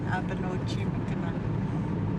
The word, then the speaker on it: Abinoji Mikana: Am I saying it right? Abinoji Mikana? Yeah, Abinoji Mikana.